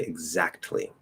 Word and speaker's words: exactly: word exactly uh yes you can enunciate the t you can say exactly usually we won't do that even if we're enunciating if we're like emphasizing we still probably won't say that t um and part of